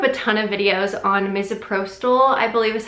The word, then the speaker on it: misoprostol: I looked up a ton of videos on misoprostol I believe is how you pronounce it so the way it works is